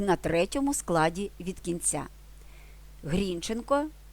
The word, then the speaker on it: Грінченко: Грінченка тобто Дмитра Гринченка існувала сімейна легенда що їхнє прізвище не Грінченко як наголошував народ такі прізвища а Грінченко в основі цієї легенди лежало бажання бодай таким Робом відрізнятися від мужиків і на ті часи нікому не спадала на думку перечити панським забаганкам Тим паче що прізвище з таким наголосом українці вживали Шевченко Козаченко Чумаченко це все спричинилося до